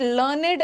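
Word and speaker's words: learned: बट लर्नेड एज a third form, जब लर्न का third form आता है ना, तब इसका प्रोनाउंसिएशन लर्नेड हो जाता है और ये एडजेक्टिव बन जाता है।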